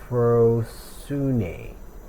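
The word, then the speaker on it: ἀφροσύνη: Foolishness pronounced a Afroosune. Afroune.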